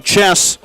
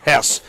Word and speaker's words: Hess: I also realized that when I was saying chess, I made it sound like I was going to call him Turner Chess. No, I understand it's Turner Hess.